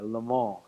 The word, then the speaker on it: Le Mans: big showcase at the Le Mans race in the 1960s, or Le Mans, if I'm going to say it correctly.